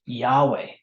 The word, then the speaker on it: Yahweh: god of Israel the the four letters uh yodehay which are probably pronounced Yahweh is mentioned in the